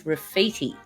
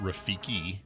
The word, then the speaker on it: Rafiki: the lion king is rafiti is he a a baboon b a spider monkey c a vervant monkey or d a mandrel um well one correction it's pronounced rafiki with a k it's all uh it's